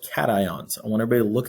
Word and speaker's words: cations: protons and you have positive ions are called cations i want everybody to look at that word and listen to how i say it cations not casions not cassians it is cation cation cation i'm going to